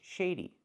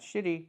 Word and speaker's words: shady: He looks shady. Not shitty, but shady. Make that long A sound.